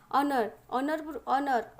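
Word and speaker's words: honour: not days ऑनरेबल मैन ऑनर पूर्व तुम कौन बस ऑनर ONOUR H silent ONOUR H silent तो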